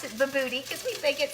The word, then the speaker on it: Bobotie: It's actually called Bobotie, but we pronounce it Bobotie because we think it sounds cuter that way.